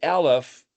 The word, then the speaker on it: Aleph: So if you can sit there and say, I understand Aleph, the silent letter, and some people say it's not silent. It's like, okay, but depending on who you listen to, Aleph is silent. Kind of sounds like an of an E sound, but it's actually by default silent, and it's just kind